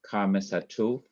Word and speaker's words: Kames Hatuf: This is what it is called, Kames Hatuf. That would be like a half Kames with an off sound.